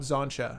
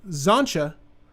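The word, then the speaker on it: Xantcha: player do you like zancha silent t in this deck and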